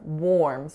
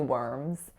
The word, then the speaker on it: worms: on the word worms worms now I know intuitively it looks like it should be or warms which is what I said because of its spelling however we know that